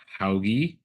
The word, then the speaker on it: Hauge: I'm presenting today with Leah Hoggy.